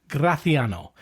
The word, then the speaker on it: Graciano: This week we are exploring a wine that is totally new for you and me called Graatiano. And yes, that is the correct way to pronounce the wine.